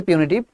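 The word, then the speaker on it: punitive: করা উচিত গভর্মেন্টের পিউনিটিভঅকশন এটাকে অনেকে পানিশি না এটা উচ্চারণ হবে পিউনিটিভ পনেটিভঅশন মানে হচ্ছে শাস্তিমূলক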